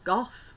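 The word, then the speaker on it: Gough: a bitter she's got surname Goff so that's why I do it is it spell as it's spelled g o u g h yeah that's right it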